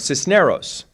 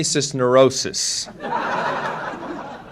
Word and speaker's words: Cisneros: encountered this as well my name is Cisneros and certainly we'll accept it with the English pronunciation of Cisneros but Lord the things that I've been called when I've been introduced I've been introduced as Henry cisnerosis on another occasion I